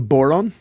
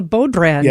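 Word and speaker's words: bodhrán: brought the Irish drum, which is called the Boron. Conveniently rhymes with Oh, but it's spelled B O B O D H R A N. Cuz I call it called the Bode brand.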